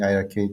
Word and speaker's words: iiRcade: It's different from how we initially were planning, and we now call it iArcade because it's simpler.